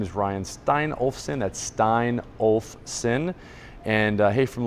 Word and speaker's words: Steinolfson: Three different syllables there. Steinolfson, just like it sounds.